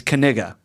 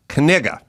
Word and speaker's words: Knigga: How's it pronounced? I do know how it's pronounced. How is it pronounced? It's Knigga. Knigga. Yeah.